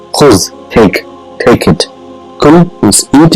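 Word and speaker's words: خذ: What it is pronounced is khuz. If you have anything, if you want to give it to somebody in front of you, say khuz, take it.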